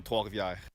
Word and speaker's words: Trois-Rivières: So, Saint-Jean-sur-Richelieu, Quebec, Canada, and I went to Académie Les Estacades in Trois-Rivières.